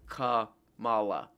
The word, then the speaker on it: Kamala: Stress the first syllable. Oh, so Kamala. That doesn't help.